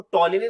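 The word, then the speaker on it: Ptolemy: और इसके अलावा आपको टोलमी मिलेंगे ठीक है यहां पर थोड़ी स्पेलिंग एरर हो गया है बेटा तो याद रखिएगा इस टोलमी ठीक है प टी ओ एल ई एम वाई टॉलमी जिन्होंने किताब लिखी है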